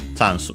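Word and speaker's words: チャンス: Okay, luckily, just like in English, so on the cha, on the first syllable, chansu.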